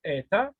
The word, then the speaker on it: eta: Qui ressemble à la lettre N, c'est la lettre eta qui se prononce comme deux E.